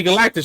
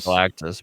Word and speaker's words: Galactus: not gonna be in that it's gonna be Galactic remember already said it right Galactus but Dr Doom's still like he's like he's